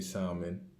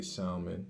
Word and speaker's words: salmon: Yeah, I say salmon, not salmon. I say salmon, which is the right way to pronounce it, and some asparagus.